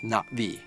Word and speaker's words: Na'vi: So I I wrote, you know, I wrote it as N apostrophe vi so that it wouldn't be Nav'i or Na'vi. It's NaVvi.